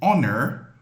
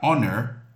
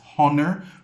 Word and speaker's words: honor: So, you will not pronounce it as honor. You'll pronounce it as honor. Honor. The H is silent in this one.